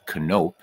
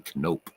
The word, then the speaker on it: Knoop: And actually, you would say his name in Dutch is Knoop, but he never said it that way, so I won't either. But it's actually you say Bobby Knoop.